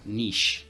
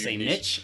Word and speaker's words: niche: list that's similar to Niche yeah Niche or Niche uh it depends I'll say both yeah usually I think nowadays